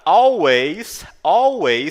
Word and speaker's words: always: O W tem um som é como se fosse um U, tá? E o A no inglês, ele é como se fosse um E, tá legal?